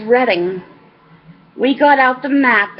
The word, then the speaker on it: Reading: though she explained that it was pronounced redding we got out the